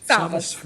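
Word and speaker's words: Savvas: Savas, Okay, sorry.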